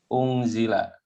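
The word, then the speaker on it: أُنْزِلَ: Unzila. Bentar, kita tulis dulu. Unzila, unzilu, unzilat, unzilata, unzilat. Nah, kalau pasifnya fi'il madi dipasifkan rumusnya dhammah awal, kasroh sebelum akhir. Ini dibacanya unzila.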